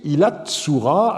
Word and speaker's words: Ilan-ṣura: encore dingir la tsura qui montre que le nom pouvait se prononcer ilats tsura avec une assimilation du n o tsadé.